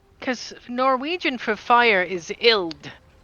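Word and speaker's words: ild: Well, what about uh cuz Norwegian for fire is ill. So, ill. Yeah. Yeah. How do you spell that?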